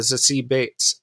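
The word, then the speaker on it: Zazie Beetz: uh domino uh played by uh actress uh c bates uh is how i found out she pronounces her name so um i i i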